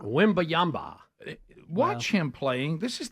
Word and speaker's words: Wembanyama: Victor Wembanyama. Wembanyama.